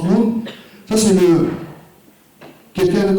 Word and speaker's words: Ng: Il a un nom de famille avec 2 lettres, 2 consonnes, NG, mais ça se prononce Noon.